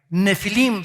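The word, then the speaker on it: נפילים: apúntalo en el hebreo es la palabra nepil con pH intermedia nefilim se pronuncia y esta palabra viene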